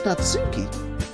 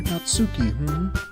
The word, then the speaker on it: Natsuki: So you're Natsuki, Some people pronounce that Natsuki. I go with Natsuki. Sorry, beat your mic, that's how I prefer it.